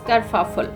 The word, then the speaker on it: kerfuffle: f u double f l e and the pronunciation is kerfuffle kerfuffle means fuss or confusion okay so intermediate